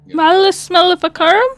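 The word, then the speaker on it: Malleus Maleficarum: or from inside of a spell, and it's Malicic Maleficorium.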